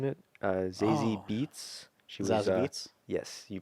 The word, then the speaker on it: Zazie Beetz: She was Zazie Beetz? Yes, you pronounced it right.